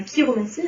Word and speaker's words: chiromancie: de la racine grecque, le grec CH se prononce que, comme dans la chiromancie, hein.